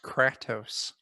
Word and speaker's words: Kratos: which means i basically Kratos and I intend act that way a lot of things are gonna need to die it's pronounced crack tous frat house I'll ask my apologies